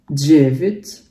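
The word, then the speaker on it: девять: 9, jevit. Jadi di sini walaupun huruf ya dibacanya jadi i ya, jadi kayak bacanya bukan jevit tapi jadi jevit, dan huruf d nya dibaca kayak j ya, jevit.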